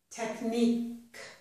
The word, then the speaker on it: technique: At the end of a word, Q-U-E usually sounds like K. Technique, technique.